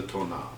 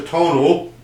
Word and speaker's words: Tonal: We just recently started a series I'm calling the Tonal. Not the tonal, not that nasally English voice, the Tonal. The emphasis on the second syllable.